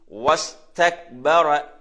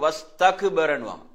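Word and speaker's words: واستكبر: அதே மாதிரி கடைசியில ரா இருக்கிறது, ரா உயர்த்த வேணும். எப்படி? வஸ்தக்பர வஸ்தக்பர. அப்ப அந்த காஃப்ல சுக்குன் இருக்குதானே, சில வந்து வஸ்தக்பரன்னுவாங்க. வஸ்தக்பர இல்ல, அங்க காஃப் சுக்குன்ல அப்படி நிக்கணும். எப்படி சொல்லணும்?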